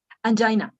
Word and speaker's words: angina: that you are suffering from Ang is correct pronunciation Ang angina angina okay and the hair is a p